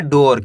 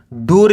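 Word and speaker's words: door: पढ़ेंगे hidden D double O आर इसे पढ़ेंगे डोर क्या पढ़ेंगे डोर डूर नहीं पढ़ना डोर four B ई एच आई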